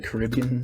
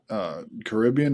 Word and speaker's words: Caribbean: Do you say Caribbean or Caribbean? I say Caribbean. Jacob? I think I would say it should be Caribbean, but I'm tempted to say Caribbean.